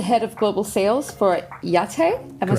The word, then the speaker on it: YAITTE: You are the head of global sales for Yate.